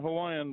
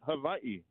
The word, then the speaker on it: Hawaii: Okay, first of all, my wife's Samoan, and she's not Hawaiian, but they say it Hawaii. Hawaii. Anyhow. They don't have the V in there.